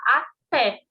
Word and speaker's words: até: o até aqui ó tem um acento aqui então fala até você coloca mais forte não é até então